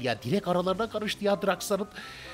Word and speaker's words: Drax: Direkt aralarına karıştı ya Drax'ın. Yani Drax diye söylemek daha doğrudur arkadaşlar. Drax diye söylenmez.